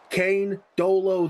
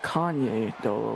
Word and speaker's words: Kane Dolo: Kane Dolo, the freshman safety, able to stop it from being a touchdown, however. I believe that's pronounced Kanye Dolo, like Kanye.